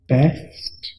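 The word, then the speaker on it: best: अब देखिए यहाँ पर ई ए की आवाज निकाल रहा है, यानी ये बा नहीं बै पढ़ना है, बै।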